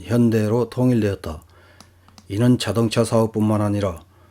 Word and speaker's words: 현대: 일본에서 지금까지 휴다이로 표기되어 온 한국의 현대자동차, 2020년에 월드와이드로 한국어 발음인 현대로 통일되었다.